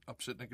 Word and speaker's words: Opsitnick: Hard last name, but it's spelled exactly like it's pronounced.